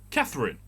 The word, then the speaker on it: Catherine: right so c-80 h-e-r-i-n-e katherine like the actress catherine zeta-jones catherine street we have that